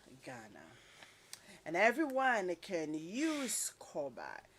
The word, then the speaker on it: Korba: And everyone can use Koba.